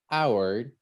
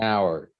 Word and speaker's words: hour: our when we say hour this one sounds like a vowel hour an hour and because the letter h in this word is silent we take that into